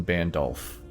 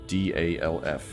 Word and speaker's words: Bandolph: The king at the time was King Bandolph. No, not Gandalf, Bandolph, but basically the same way. Bandalf.